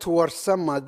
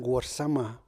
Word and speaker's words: Warsame: So I created the young Warsama, who is suffering in his class. Warsama is spelled out as W-A-R, not war, but war, and S-A-M-E, not same.